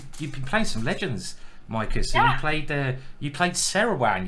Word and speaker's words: Maaike: it's actually Micah, but no one can pronounce that.